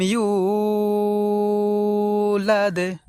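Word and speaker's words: يولد: এখানে আমরা ইউ এই জায়গায় টান দেব এইভাবে, ইউ।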